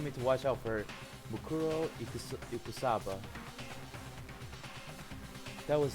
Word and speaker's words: Mukuro: It's called Muruko Ikusaba. I think that's what it was. By the way, let's continue on. Whoops. Mukuro Ikusaba. Oh yeah, it's Mukuro Ikusaba. Okay, I said it wrong.